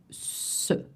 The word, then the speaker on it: ce: This, that, in French, before a masculine noun turns into se, and it's spelled C-E.